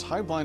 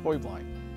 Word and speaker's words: Heublein: it high blind tower there's actually three pronunciations high blind is the family hubline is the business and the actual correct bavarian pronunciation is hoy blind however you choose to